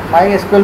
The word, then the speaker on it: MySQL: जबकि जो SQL है वो SQL भी इसको प्रोनाउंस किया जाता है। माई एस क्यूएल बहुत से जो है ना प्लेटफॉर्म को सपोर्ट